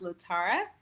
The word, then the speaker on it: LaTara: second go around so my name is pronounced little tara last name so super simple la and then tara blame my mother she